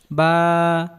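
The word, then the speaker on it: باء: আলিফ আলিফ আলিফ আলিফ আলিফ আলিফ আলিফ আলিফ আলিফ আলিফ বা বা বা বা বা বা বা উচ্চারণ হয় দুই ঠোঁটের ভেজা অংশ হতে।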